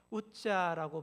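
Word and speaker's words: עזא: 여기서 우사 우사는 한 사람의 이름만이 아니에요. 우사는 히브리어로 우자라고 발음하는데이 우자는 힘, 능력, 위험을 뜻하는 말입니다.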